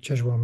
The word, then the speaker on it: Czesław: That's how it's pronounced, Czesław Miłosz.